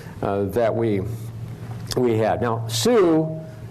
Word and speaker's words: Sioux: we we had now sue is a french name pronounced that's how the french heard the name else was apparently what